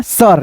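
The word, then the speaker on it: sir: आई को अ पढ़ोगे। जैसे यहां पे देखो तो एस आई आर तो एस आई आर से हो जाएगा सर।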